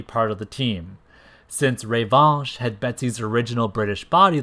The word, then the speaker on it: Revanche: Revanche, which I always pronounced as Revanche as a kid because I'm just very literal that way. But knowing that it's a French word meaning revenge, it's safe to assume that it's likely supposed to be pronounced like Revanche.